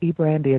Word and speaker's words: Brandia: So share with the audience a bit about who is Brandia. Did I pronounce that correctly?